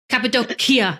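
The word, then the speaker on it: Cappadocia: in capid oh my God say it again capadia capid doia that's it I like the car like the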